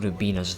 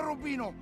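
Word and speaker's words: Robina: In Naval Engagement, Umberto Rubina's voice actor, Danny Trejo, mispronounces Umberto's surname. They're laughing at me, Tommy, at me, Umberto Rubino.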